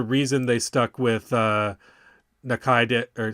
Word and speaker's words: Tatsuya Nakadai: know there's a reason they stuck with uh Nakaid or how do you say his name? Tsuya Nakaid Nakadai. Yeah, Tatsuya Nakadai.